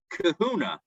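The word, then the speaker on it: Kehunah: And actually the Marshal changed the disqualification to disqualification from Kahuna, which rhymes with Truma, but is not the same thing.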